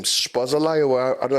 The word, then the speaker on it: Szoboszlai: Spazolai, or I don't know how it's pronounced. The one at Liverpool, because he literally just came this season. Szoboszlai.